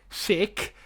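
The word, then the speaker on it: Schick: they wanted to get patrick sick sick thank you for those of you that corrected the pronunciation they got they're getting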